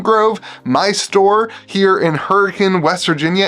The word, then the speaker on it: Hurricane: my store here in Hurricane West Virginia it is pronounced hurricane spelled hurricane uh so that's going to